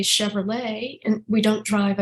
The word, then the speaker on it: Chevrolet: There are the final consonant in a word in French is not pronounced. So we drive a Chevrolet and we don't drive a Chevrolet.